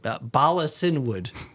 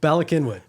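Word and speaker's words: Bala Cynwyd: I mean, I'll pronounce it like it sounds, but Balasinwood. Okay, good. Balakinwood.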